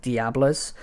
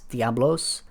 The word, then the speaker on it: Diablos: the right arm of Diablos I try to pronounce it correctly cuz Diablo in my head that's how I say diablo but they add the uh the o l o s Diablos Diablos so they're trying to find